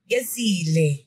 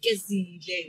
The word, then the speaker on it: Gezile: Gezile. Gezile. Yeah? Thick sound. Oh. But I just don't know how to pronounce it.